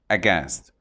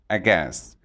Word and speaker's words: aghast: Aghast. It's pronounced aghast. The stress is on the second syllable, aghast.